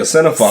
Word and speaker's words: cinephile: Yeah, cinephile.